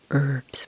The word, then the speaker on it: herbs: In the U.S. we say herbs. We don't pronounce the H in the H.